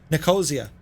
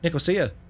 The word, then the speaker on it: Nicosia: top of the mountain nakozia what did i say nicosia there's a place where